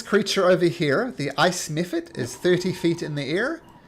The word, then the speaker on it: mephit: Nephit? Ice mephit is what they're called. M for Malcolm. Like that. Mephit. Mephit. But with a And PH.